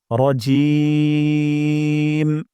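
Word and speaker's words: الرجيم: হরফ উচ্চারণ করেন তাহলে জিম উচ্চারণ করব জিহ্বার মাঝখান থেকে জিহ্বার মাঝখান উপরের তালুর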